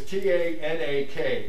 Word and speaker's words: Tanakh: mainly for pronunciation reasons so it's t-a-n-a-k Tana that's the Bible that